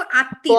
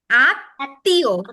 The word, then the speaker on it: আত্মীয়: আবার এখানেও দেখো আত্মীয়, পদ্ম আত্মীয়, ত দুইবার উচ্চারণ হচ্ছে, আত্মীয়।